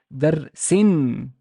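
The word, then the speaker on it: درسٍ: And I would pronounce this as darsin, darsin, talibin, waladin.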